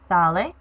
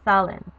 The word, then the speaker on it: sale: Salir, which means to leave, ends up being salgo, sales, sale, salimos, salís, and salen. You do not pronounce the LA usted form as sale. It's sale. You have to stress the A.